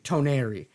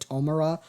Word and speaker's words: Toneri: Toneri. I butchered his name in the last video. Please forgive me. I said Tomura because I'm currently watching My Hero Academia Season 6.